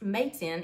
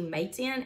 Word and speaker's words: Matein: from two friends and the reason that I think that it is pronounced Mason is because one was discussing the idea of a backpack brand to the other and he said mate I'm in so that's why I feel like it might be May 10 and that's how it was pronounced but I don't know